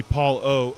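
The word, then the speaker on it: Paul Ough: That's going to be Paul O, O-U-G-H, guys. O-U-G-H, pronounce the letter O.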